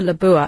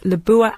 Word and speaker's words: Lebua: And the best thing about it, well, the one thing used to put me off, the Labua, and it's spelled Lebua, Lebua, Labua at State Tower.